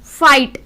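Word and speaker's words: fight: फाइट, GH जो है वो साइलेंट हो गया।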